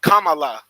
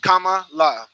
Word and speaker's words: Kamala: my name is first my name is pronounced Kamala Kamala Kamal La that's what I've been